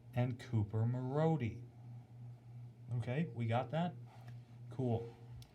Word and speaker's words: Cooper Marody: Now, for those of you that watched the game on AHL TV, I'm going to pronounce the names correctly for you. It's Kyler Yamamoto from Sam Gagne and Cooper Marody.